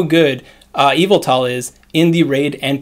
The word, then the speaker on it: Yveltal: i say evil tall they're telling me it's pronounced event till yvette yo i know a vet's your x-man but that